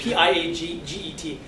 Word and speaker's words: Piaget: It's P-I-A-G-E-T. Is it Piaget or is it Piaget? Piaget. Piaget, I thought it was Piaget, it's a French thing, right?